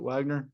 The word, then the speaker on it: Wegner: I don't really ever say anything about it because I hear both all the time and it makes zero sense why we do pronounce it Wagner.